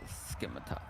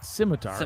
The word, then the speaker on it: scimitar: It looks like a schematar. It's scimitar. It's a silent C.